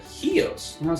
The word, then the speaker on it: Chios: And I found this island that said Chios.